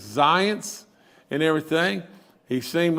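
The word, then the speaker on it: Zients: is jeff and and i think you pronounce his last name as zions and everything he seemed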